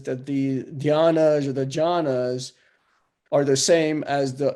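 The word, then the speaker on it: jhāna: a so in diana they even changed the dh to ja to to just j the d i don't say d-h-y they change to uh j so it's jhana so it's not it's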